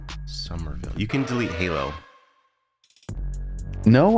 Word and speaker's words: Somerville: four gigs delete it oh somewhere Somerville but it's spelled s-o-m-e-r Summerville you can delete Halo